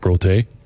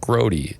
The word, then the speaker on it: Grote: and said, "Oh, Mark Grote?" I said, "Oh no, actually it's actually pronounced Mark Grote is the name. I work for WBBM Radio." He goes, "Nope." He goes, "You're Mark Grote."